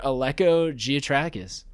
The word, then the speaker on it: Giatrakis: Give it up for Alco Gotrais.